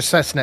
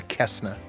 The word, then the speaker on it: Cessna: Oh, it's pronounced Cessna. Thank you, Ham and Beans. Moving on. Oh. Yes, I know what a Cessna is, not a Kessna.